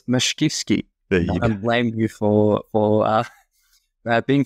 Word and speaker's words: Mashkivskyy: It's Mashkivskyy.